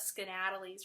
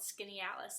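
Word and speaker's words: Skaneateles: how it's spelled and you almost want to call it skedaddle ease or something but it's called skinny Alice and it's so beautiful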